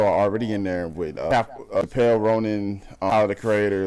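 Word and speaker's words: Chappell Roan: Nigga said Chappelle Ronan. I was like, okay, that's not even remotely, bro. Dog, that's not how I say her name. It's Chappelle Ronan. Not you said Chappelle Ronan. The world knew what I'm talking about. I didn't mean no disrespect. I thought it was Chappelle at first.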